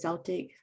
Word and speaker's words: Celtic: And so when I read that you left Christianity and found Celtic spirituality, is that how you pronounce it? Celtic?